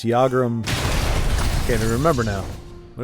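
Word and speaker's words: Yagrum: use never really got the pronunciation I missed pronounced it in one video I thought it was Jager and ball Griff clearly I was wrong all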